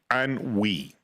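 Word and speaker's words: ennui: So, Eugene O'Negan suffers from an that's spelled E N UI. Anwi, all right, it's it's a French term and it means I'm rich, entitled, and bored.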